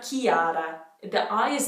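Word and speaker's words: Chiara: this name in italian it's always k like mechanic we do have an equivalent to this name in english it would be kiara kiara where the i is very pronounced this one's a bit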